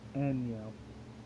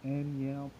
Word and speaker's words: Anyiam: It's Anya, like. I broke it down so people can understand how to pronounce it. My last name Anya, and that's it.